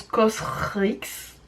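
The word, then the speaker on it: COSRX: marque c'est je crois c'est au srx donc ça se prononce cause rixe face à ces eaux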